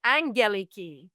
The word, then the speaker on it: Aggeliki: So it's Aggeliki, but you can actually say it Angeliki. Angeliki? I've been saying my name like wrong for a long time because the two gammas make a diphthong and you've got like an ung sound.